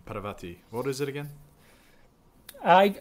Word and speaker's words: Parvati: i'm butchering that pronunciation paravati what is it again i i've heard a few different ones but the one that i've heard most often is parvati bit more emphasis on the par yeah so he's in